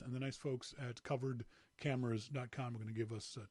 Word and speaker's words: KUVRD: comm kuv rd covered i kept saying it wrong on last week's show i kept calling it sorry curved it's covered these great little universal